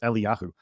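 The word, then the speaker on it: אליהו: It's like, is the proper pronunciation Elijah? And I'm like, well, in Hebrew, it's Eliyahu. So, but Let's Elisha.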